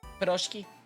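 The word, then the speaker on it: пирожки: Eat Proshki. Is that the pronunciation? Piroshki.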